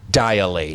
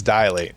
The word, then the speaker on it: Dilate: metal scene dilate yes not dial eight no its dilate di la te mhm